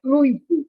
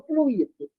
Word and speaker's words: fluido: do fluido Universal e a pronúncia correta é fluido e não fluído fluir é verbo aqui